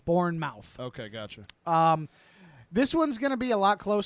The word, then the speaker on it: Bournemouth: b-o-u-r-n-e-t uh m-o-u-t-h um like Jason Bourne and then mouth born mouth okay gotcha um this